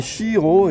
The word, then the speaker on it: Siero: Alors là, c'est Chiro, et donc ça s'écrit Siero, parce que S-I donne che.